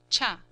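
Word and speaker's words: 茶: more modern one, cha, Japanese tea, chiya, pronounced cha.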